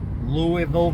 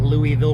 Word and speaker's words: Louisville: By the way, you guys understand how to pronounce Louisville, Kentucky? You understand how that works? It's not Louisville, Kentucky. It's Louisville. Doesn't really have syllables. It's just one big Louisville. That's how you say it.